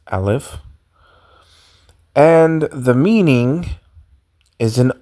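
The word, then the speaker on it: Aleph: top left you have what is called the alive and the sound is silent as you can see and we are moving to the name it's Al if and the meaning is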